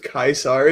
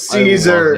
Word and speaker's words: Caesar: kis I hate the I hate the use of kaisar it's Cesar love it it's so good it's it's the classical Latin pronunciation apparently yes it's the real pronunciation stop being Moroccan and